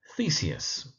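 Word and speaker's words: Theseus: So let's start with thesis. Theus thesis emphasis on the first syllable.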